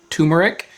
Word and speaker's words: turmeric: I'm specifically correcting myself to say turmeric instead of turmeric because I've been corrected recently. In my ginger episode, I said it wrong the whole time and people corrected me.